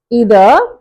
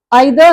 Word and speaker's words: either: ஸோ these 2 words have to be pronounced either neither or either neither.